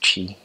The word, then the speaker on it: Twi: It's called Twi, Twi, but it's pronounced Chi.